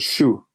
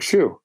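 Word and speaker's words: chou: in French sounds like Shu so I'm going to relate what I know which is some foreign word that sounds like the word shoe that I know to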